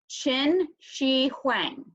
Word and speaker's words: Qin Shi Huang: how to pronounce this the qan that's the in China that's the chin sound so Qin Shi Huang this is a dude